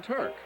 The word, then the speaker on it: Turk: A nickname can often tell you something about a player's personality, as in Turk, which rhymes with quirk.